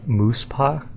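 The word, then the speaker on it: Muspah: Muspha is pronounced Moose-pa.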